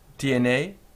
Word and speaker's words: tiene: Now there are different variations in pronunciation. Tiene, tiene, and I'm going to go with tiene usted. So tiene usted, pronouncing every letter clearly, whereas sometimes you will hear that last E being swallowed.